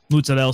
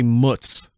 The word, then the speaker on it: mozzarella: At least he doesn't say mutz, like M-U-T-Z. It's mozzarella. Ugh.